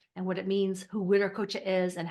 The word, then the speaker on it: Wiracocha: uh you can spell any way but we pronounce it wi coocha I hear people online talking about the ver coocha uh I don't think that's really how it's